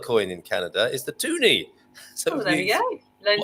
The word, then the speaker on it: toonie: So the $2 coin in Canada is the toonie. So there you go. Learn something new every day. Excellent. Two loonies make a toonie, of course, and it rhymes with loony there.